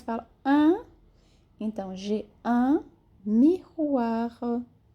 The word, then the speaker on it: miroir: Então, j'ai un miroir. O R é pronunciado e a última vogal, ela é bem sutil com R, ok?